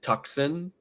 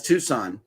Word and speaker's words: Tucson: is a town in Arizona um do you pronounce it tuxen that's Tucson that's Tucson Mike and ranana says we don't